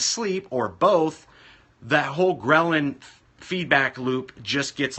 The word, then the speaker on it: ghrelin: It also impedes ghrelin, which is spelled Grelin, which is the antithesis or the opposite from the cortisol.